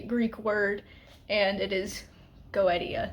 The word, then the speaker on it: Goetia: always pronounce it as Goetia, and it's not that. It comes from a Greek word, and it is Goetia. You pronounce like each syllable, each vowel individually.